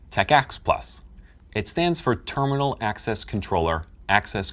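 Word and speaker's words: TACACS+: may come with it t-a-c-a-c-s plus pronounce Tech ax plus it stands for terminal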